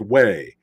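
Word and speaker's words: Huế: uh it was pronoun it was spelled Hugh but it's pronounced way and I don't mind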